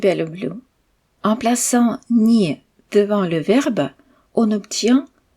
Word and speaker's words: не: Cette particule ni ne porte pas d'accent et se prononce donc ni et elle se colle toujours au mois suivant.